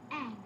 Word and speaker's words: Aang: Aang. That rhymes with Mang.